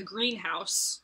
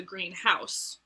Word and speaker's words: greenhouse: is white anywhere uh likewise the greenhouse versus the greenhouse being either a place where you raise plants or like a dwelling that is green and so dutch runs